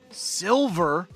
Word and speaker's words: Silver: It's Silver, not Sliver, right?